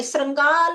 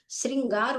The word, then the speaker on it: श्रृंगार: क्योंकि इसमें ऋ की मात्रा लगी है। ऋ अब ऋ निकलना चाहिए ना उच्चारण में। तो श्रृंगाल होता है। श्रृंगार होता है।